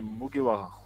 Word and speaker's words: Mugiwara: C'est comme ça qu'on prononce? C'est Mugiwara.